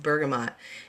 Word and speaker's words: bergamot: minutes about bergamot and I actually have heard other people in the essential oil where a world pronounced at Bergamo sometimes I say that and sometimes I say bergamot it's just I don't know it just depends on what comes out but it looks like bergamot so that's what I'm